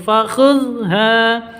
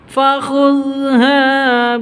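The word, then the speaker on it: فخذها: Fakhudha, ha panjang 2 ketukan karena ada alif diawali dengan fathah sampai panjang fathahnya ini. Fakhudha biquwwatin wa'mur.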